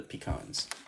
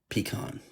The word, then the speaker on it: pecan: However you want to say, I prefer the pecans. My wife prefers the ones with the raisins. And so it's pronounced pecan. It's pronounced like pecan, like you pee in a can, right?